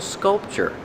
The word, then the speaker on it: sculpture: And this is a beautiful sculpture. Pronunciation sculpture. The tu is pronounced with the chch like chicken.